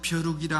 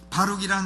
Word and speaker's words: 바룩: 이 바룩이라고 하는 사람은 발음을 잘해야 돼요. 벼룩이라 하지 말고 바룩이라는 사람은 우리가 안면이 있습니다.